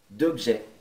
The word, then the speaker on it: objets: Un certain nombre d'objets. Não pronuncie o S no final.